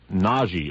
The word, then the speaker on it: Nagy: So you'll actually pronounce it Nagy Ferenc.